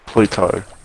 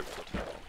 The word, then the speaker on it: plateau: Pluto. Not Pluto, Plateau.